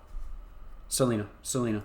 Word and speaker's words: Selena: I'm assuming this is Selene or Selena, Eragon's mom. Let me make sure I'm saying it right. Selene or Selena? Selena, excuse me.